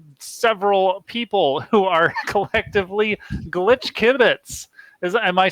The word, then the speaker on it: Glitch Kibbitz: I'm here live with several people who are collectively Glitch Kibbitz. Am I saying that right? Is the pronunciation on the kib or is it on the bits? Glitch Kibbitz. Glitch Kibbitz.